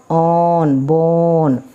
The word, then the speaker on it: bone: B it's not Bor it's not born it's B on B bone C on con this is silent this e silent okay no o nose